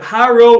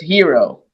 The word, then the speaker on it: Hero: I'm saying it right is it hyro or hero it's it's hero okay I my apologies to the to the family of course hero passed away on us